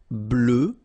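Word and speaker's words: bleue: form feminine form GRE blue blue so same thing that we had for Noir you just add this at the end but then you don't pronounce it blue blue all right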